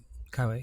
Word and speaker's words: Keiwei: Have I pronounced that right? Yep, Keiwei.